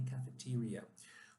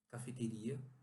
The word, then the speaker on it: cafeteria: They normally have lunch in the company cafeteria. Cuidado, porque nós temos essa palavra em português, cafeteria, mas a pronúncia aqui é cafeteria.